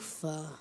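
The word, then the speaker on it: rancour: yes and Latin okay ranko ranko am I pronouncing it right correctly mhm ranco r a n c o u r ranco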